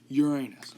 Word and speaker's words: Uranus: I'm trying not to say it like it sounds like Uranus.